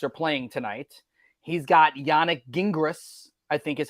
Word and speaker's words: Yannick Gingras: He's got Yannick Gingras, I think is how you say the name.